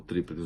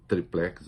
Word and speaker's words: tríplex: o apartamento tal do Tríplex do Guarujá, eu prefiro triplex, as duas pronúncias são aceitas, ele não via ligação entre o triplex e os contratos da OAS com a Petrobras.